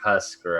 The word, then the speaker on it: Husker: if they have 8 Huckster. legs and No, he actually pronounced No, it he right. means it's Husker.